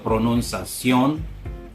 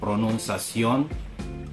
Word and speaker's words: pronunciación: And same with words with ION. Usually the accent is in the O. Por ejemplo, pronunciación. So notice that I emphasize the O, pronunciación.